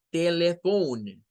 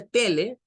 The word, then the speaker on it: telephone: el error de decir telephone, telephone, y queremos sonar como inglés. Pero si usted dice tele, ya lo dijo mal, porque allí no se dice tele, se dice telephone, telephone.